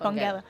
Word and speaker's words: Bongela: Is it Bongela? Bongela? Yes. Bongela. Yeah. Bongela. It's a hard G. Bongela, hard G.